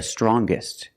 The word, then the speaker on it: strongest: Or the youngest, the strongest. When we change these adjectives with ER or with EST, we're going to pronounce the G sound, the hard G.